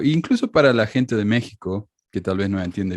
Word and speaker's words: México: y xi es y se pronuncie j como méxico gméxico este problema con